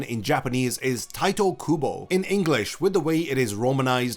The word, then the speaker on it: Tite Kubo: So, the correct pronunciation in Japanese is Tito Kubo. In English, with the way it is romanized, it should be pronounced Tit Kubo. But people seem to really enjoy calling him Titty Kubo or Tite Kubo.